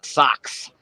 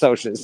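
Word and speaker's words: Socs: that book called them I call them the socks the I like oh the socks apparently it's pronounced soas yes apparently it's although I I would have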